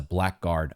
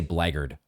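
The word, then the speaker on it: blackguard: This was a black guard attack. I want to say blarded because I think that's how you would normally pronounce it, but I do think in this case it's black guard.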